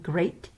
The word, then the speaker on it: great: Watch out for meat and great and threat. They rhyme with sweet and straight and depth.